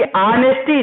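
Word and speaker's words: honesty: तो देखिए ऑनेस्टी जो लिखा है, उच्चारण भी ऑनेस्टी, ध्यान दीजिए, है ना?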